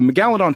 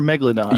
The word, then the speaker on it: Megalodon: is it megaladon or Megalodon how do you say it it's it depend your emphasis can be on a different salable it's it's both it's it's not like